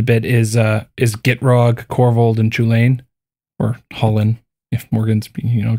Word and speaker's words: Chulane: is Gitrog, Corvold, and Chulane, or Hullen, if Morgan's going to make me say it correctly. The correct pronunciation is Hulani. Yeah. Okay, thanks. I'll keep saying Chulane, okay?